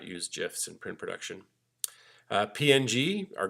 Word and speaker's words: GIF: GIF, it's pronounced GIF. If you go look online, the creator of the GIF said it is pronounced GIF, as in the peanut butter.